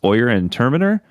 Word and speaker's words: Oyer and Terminer: Let's not continue down this road, but instead he puts together this court of, I believe it's pronounced Oyer and Terminer, Yeah.